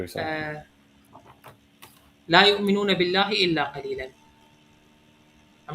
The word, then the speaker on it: قليلا: But قليلا, you see how it added an alif? So what I would say is قليلا. Just pronounce the alif.